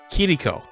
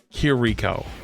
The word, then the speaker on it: Kiriko: way you say kiriko the way I was told that you say it is kiriko kiriko instead of here Rico or heriko right like